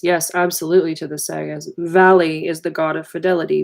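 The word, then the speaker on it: Váli: absolutely to the sega's valley is the god of fidelity v a li accent on the AI is the god of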